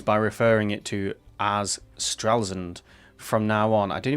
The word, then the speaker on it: Stralsund: starting with apologies, is the town that I've been calling Stralsund is actually Stralsund. So I've been mispronouncing the name of a whole town and its people for quite some time now.